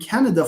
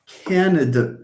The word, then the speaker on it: Canada: Okay, Natalie, you are doing a great job because you are China and Canada, for example.